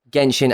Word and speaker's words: Genshin: fact is is that to willingly mispronounce genshin as jenshin means that someone has